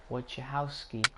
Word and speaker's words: Wojciechowski: Wojciechowski. That's how you pronounce his name then.